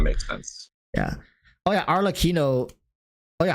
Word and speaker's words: Arlecchino: Yeah, because like when you say cappuccino is spelled with two C's, right?